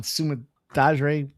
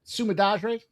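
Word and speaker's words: Sumudaerji: I think Sumadarji. Yeah, that sounds about right. The JI comes out like a GH.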